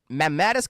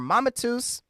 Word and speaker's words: mammatus: We're thinking about Mammatus cloud or Mamatus, however you want to uh pronounce it there.